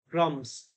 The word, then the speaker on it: crumbs: So B silent here. Crumbs.